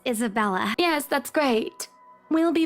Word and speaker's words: Isabella: Hopefully you can help us out too, Isabel. Isabella. Right. It's a lovely name, Isabel. She has no idea how to pronounce people's names. She's a bitch. It's Isabella.